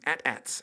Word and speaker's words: AT-AT: Another wedding photographer did, and he paid me to add some AT-ATs, as they're actually pronounced, and some lightsabers in there, and have fun with that.